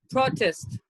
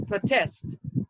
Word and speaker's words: protest: is the pronunciation produce as a noun it is protest and as a verb it's protest as a noun it's record